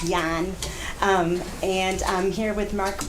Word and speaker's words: Yan: Last name is actually pronounced Yan.